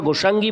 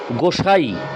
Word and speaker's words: গোসাই: এখানে গয়কার দন্তস্বয় আকার ইঙ্গই রস্যি গোসাঙ্গী, তো আমি প্রথমবার গোসাঙ্গী বলেছি, তো এটা গোসাই, অ্যাকচুয়ালি এটা গোসাই, তাই আমি মন্ত্রটি এই শ্লোকটি আরেকবার পাঠ করলাম।